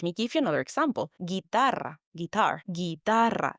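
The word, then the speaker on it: guitarra: Guitara. Guitar. Guitar. The U again is silent.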